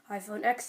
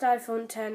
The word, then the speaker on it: iPhone X: device the iPhone 10 iPhone X type of people might say but it's pronounced iPhone 10 and I'll explain to you why it is so X is 10 in Roman numerals and that 10 represents